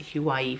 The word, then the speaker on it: Huawei: There's a manager down there, and I have a Huawei, he tells me, that's how you pronounce it, Huawei phone.